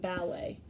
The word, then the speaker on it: ballet: And lastly, we have our two oddballs, which are spelled with an ET, but you don't hear the T in the end. So this is said buffet and ballet.